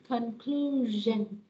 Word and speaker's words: conclusion: Âm này là âm G các bạn ha. Conclusion.